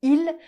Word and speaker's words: il: Devant une consonne, on va rarement prononcer le son le du mot il. On va simplement prononcer i, ce qui va donner il vient, il vient, il y en a, il y en a.